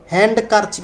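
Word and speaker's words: handkerchief: তো এই যে হ্যান্ড, হ্যান্ড কারচিপ আমরা বলি না, আমরা বলি হ্যান্ডকারচিপ, হ্যান্ড কারচিপ বলি না, বলি হ্যান্ডকারচিপ। তাহলে হ্যান্ডকারচিপ যেহেতু বলি ডিটা সাইলেন্ট আছে, এই জন্য অপশন উত্তর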